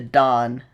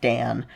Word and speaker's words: Dan: You'll see I think I'm going to have you watch the Dawn uh performance. I think it's Dawn and not Dan. It's spelled Dan, but I think it's pronounced Dawn.